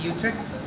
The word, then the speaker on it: Utrecht: He's doing a lot of cool stuff, including working with an academy, FC Utrecht. Yes. Correct pronunciation?